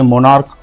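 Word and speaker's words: monarch: जैसे मोनार्क मोनार्को तो इसका जो आखिरी में जो सीएच है इसका उच्चारण च ना होकर क हो रहा है।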